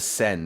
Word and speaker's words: Seine: The Seine is how I pronounce it, right? The Yes. Seine, okay.